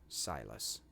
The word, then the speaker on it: Silas: Maybe it's Silas. Is that right? Silas? I'll remember this if it's right. That's how it's pronounced. Silas.